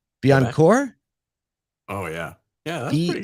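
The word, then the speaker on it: Bécancour: a battery materials plant in, how do you pronounce this word? It's Biencourt? Oh, yeah. Yeah, that's pretty good. BEA, Biencourt, Quebec.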